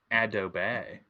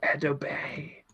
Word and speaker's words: Adobe: Fun fact, it's pronounced Adobe.